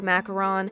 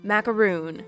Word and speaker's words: macaron: These macarons were the macarons and on macarons, but I double checked this one on the Google and that's actually how it's pronounced. A macaroon is this. Macaron, macaroon.